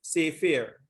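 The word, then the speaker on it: ספר: So H5612 is sefer. This is the pronunciation.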